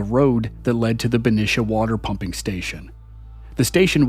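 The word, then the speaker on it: Benicia: and it runs into the neighboring city of bish as the locals pronounce it along the way it angles Past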